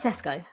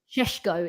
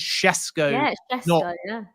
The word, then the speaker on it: Šeško: Let's start with Let's start with Cesco. Oh, actually, guys, it's it's Benjamin. Benjamin Shesho is how you pronounce his name. People have been saying to me for weeks on podcasts when I've been saying Chesco.